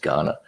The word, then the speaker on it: Kaurna: It's not like the African country. It's Kaurna, but pronounced Ghana.